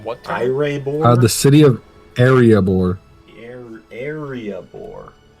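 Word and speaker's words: Iriaebor: time the city of arabor arabor it's like it's a boring area I don't I know I'm pronouncing it like the Dwarven City and Lord of the Rings but it's literally spelled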